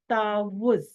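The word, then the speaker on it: تعوّذ: आ रहा है, इसको वाव के ऊपर जो है ना वो तशदीद है, तशदीद वाले लफ्ज को 2 दफा पढ़ते हैं, तो हम इसको ऐसे प्रोनाउंस करते हैं तावुज, ठीक है।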